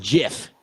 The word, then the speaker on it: GIF: and a lot of people say it's a gif i call it a gif i don't care i give it's pronounced jiff i don't give a i